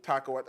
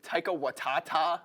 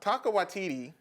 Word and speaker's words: Taika Waititi: How do you pronounce it, please? Taika Waititi? Taika Waititi. I wasn't that far off. Taika Waitata? Taika Waititi.